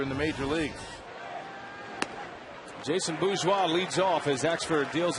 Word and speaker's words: Bourgeois: And Bourgeois is a strikeout victim. The R is silent, isn't it?